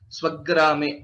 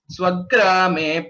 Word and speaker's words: स्वग्रामे: Swagrame, it is not Swagrame, it is Swagrame. That Dvitva is always expected wherever there is a Sanyukta Akshara.